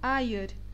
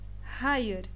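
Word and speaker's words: hayır: som dele é Errar nessa palavra muitos e quem está aprendendo turco pronuncia essa palavra como ayer e está errado a pronúncia é Higher a Higher a terceira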